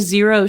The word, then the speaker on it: Xero: this that made these Zero. shoes? Zero? But it's spelled Xero. XERO.